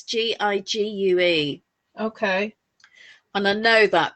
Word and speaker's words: Gigue: number 6, and I don't know if it's pronounced Gigue or Gigue. It's Gigue.